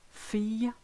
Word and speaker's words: fille: When you've got ILL, AIL, EIA, L, the L sound totally disappears. So listen to those examples. Vieille, aille, travail, famille, fille, soleil, Guillaume. I think you get the idea. You just replace it with a long E and you'll be fine.